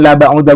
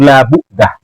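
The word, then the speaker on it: بُعْدَة: Bacanya bukan la ba'udah Gus Hasan, itu la bu'dah. Wa innahu la bu'dah, sama seperti yang di atas.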